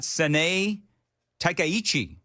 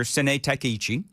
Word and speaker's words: Sanae Takaichi: And by the way, Joan, I'm gonna ask you, what is your official pronunciation for the Japanese Prime Minister? Haha. Good luck with that. I've got Sanae Takaichi is what I've got.